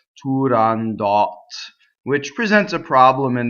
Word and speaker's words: Turandot: From what I've heard, Puccini used to say Turandot, but if you look on the RAI site, in the pronunciation dictionary on the RAI site, they will have it listed as Turandot, which presents a problem